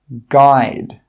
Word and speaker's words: guide: The letter U is often not pronounced when it's after a G and before a vowel. Some common examples are guard, guarantee, guide, guest, guess.